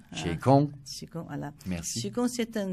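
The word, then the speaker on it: 启功: Alors prononcez-le correctement, s'il vous plaît. Qigong. Qigong.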